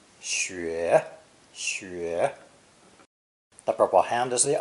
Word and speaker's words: 雪: It's pronounced third tone, xue.